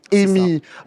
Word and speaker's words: EEMI: des sigles alors nous on va dire EMI EMI très bien c'est comme ami mais avec un e EMI pour est-ce que le